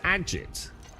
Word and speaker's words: agate: So it's pronounced Agit.